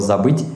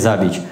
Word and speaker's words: забыть: Ни одного славянского языка не знаю, где слово «забыть» имеет такой вид. И слово русское «забыть». Но «забыть» — это очень плохо, потому что кто-то не произносит «ы», и он может сказать «забить», «забить».